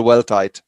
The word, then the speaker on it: Weldtite: I was trying to find out how to pronounce the second part of the team so it's Riel well tied yes yeah very good yeah